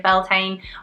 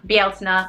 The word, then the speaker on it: Bealtaine: You know, if you don't have many decks but you want to tap into the energy of Beltaine, Bealtaine rather I should say, and you want to